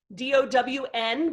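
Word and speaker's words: Dão: saying all along so if you think of the word down d-o-w-n but with an m at the end of it and then you kind of eat the m at the end down that's how you say it so let me hear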